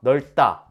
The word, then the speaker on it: 넓다: 했었죠 얇다 이렇게 리을로 발음된다고 했었죠 다도 어때요 넓다 이렇게 발음해야 해요 근데 리을 비읍 받침이 비읍으로 소리